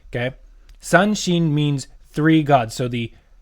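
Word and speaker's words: 三神: I think the j the Chinese actually actually say shen but the Japanese say shin okay san shin means three gods so the three flower as the hana is the three flower gods Okay.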